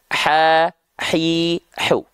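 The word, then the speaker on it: ح: Ha kecil pun sama dilafalkan dari sini. Ha, hi, hu.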